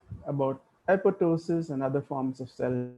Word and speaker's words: apoptosis: of endogenous death programs now apoptosis and apoptosis are two alternative pronunciations the english tell me that it's apoptosis i'll try to use that pronunciation but by and large